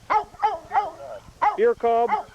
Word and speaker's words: Fohrkolb: Fohrkolb?